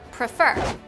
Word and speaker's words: prefer: Let's look at another example, the verb prefer. Try saying it out loud. You can hear that the second E is stressed, which is the E right before the consonant R at the end of the word.